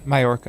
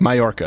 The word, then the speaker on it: Mallorca: the Mediterranean island of uh how do you pronounce this here Lane Mallorca Mallorca okay I wanted to make sure I was